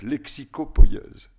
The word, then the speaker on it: lexicopoïèse: Je le dis en 2 mots parce qu'à mon avis, ça relève de la donc, lexicopoïèse. C'est comme ça que je le prononce.